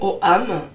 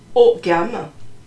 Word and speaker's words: ogam: Ensuite, on aura le nom, hein, qui sera l'ogam, donc prononcé OAM ou OGAM, voilà, sur une feuille.